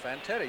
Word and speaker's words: Fantetti: They pronounce that. You got me saying it now. Fantetti, you got it right the first time. Ken Fantetti.